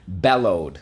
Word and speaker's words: bellowed: Okay, bellowed. Let's go. Bellowed. Bellowed. For the O, we use ow, o. Bellowed. Let's go. First syllable, bell. Second syllable, load. Bellowed.